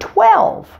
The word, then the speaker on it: twelve: bell fell tell well if you can accurately pronounce well you're almost there with the word 12 now let's add the T to the beginning of the word well remember to round your lips at the same time you say the T